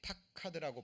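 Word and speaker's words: פקד: 그래서 권고하다라는 이 히브리어 단어가 발음이 파카드라고 발음이 됩니다.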